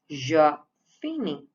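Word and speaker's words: je finis: first ending is is it will be pronounced as jafini I finish then next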